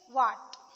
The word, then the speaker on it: what: When pronounced together, they make the sound HW.